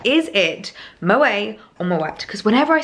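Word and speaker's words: Moët: bottles of Moet and yes it is pronounced Moet I do know that for a fact actually I met up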